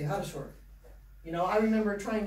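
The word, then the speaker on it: хорошо: So just like you guys don't say ho-ro-sho every time, you say ha-ro-sho.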